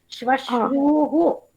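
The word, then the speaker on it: ಶ್ವಶ್ರೂಃ: ಅಲ್ಲ, ದೀರ್ಘ ಇದೆ. ಈ ಶ್ವಶ್ರೂಹು ಅಂತ ಹೇಳಿದ್ರೆ ತಪ್ಪು. ಶ್ವಶ್ರೂಹು ಊ ದೀರ್ಘ.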